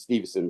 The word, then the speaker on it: Stephenson: Stephenson with the PH. I mean, they pronounce it Stevenson, but to tell you how to spell it, I call it Stephenson.